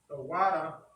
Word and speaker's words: tawada: It's pronounced Tawada. Tawada is thank you in the ancient Hebrew. Now, to write it, I'm going to show the ancient and the Assyrian. So remember, it's written from right to left. So the tha, wa, da, and we have a pa. Now, putting in the connectors to how the word is pronounced. It's Thawada, not Thawada ha.